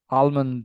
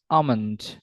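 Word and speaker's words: almond: আমরা ভুল প্রোনাউন্স করি so like আলমন্ড ইট ইজ not like not আলমন্ড ইট ইজ আমন্ড অলসো উই মিসপ্রোনাউন্স dengue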